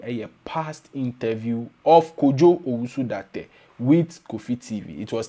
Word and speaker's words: Dartey: Kojo Dartey. Dartey. D-A-R-T-E-Y. Oh, your T, I didn't hear it in your pronunciation. D-A-R-T-E-Y. Kojo Dartey.